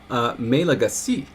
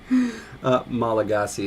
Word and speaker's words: Malagasy: Oh, it was of course Malagasy. Right? That's the correct way to say it, isn't it? I don't know if that's one of the 8 million ways I've tried saying it. Malagasy is the usual way.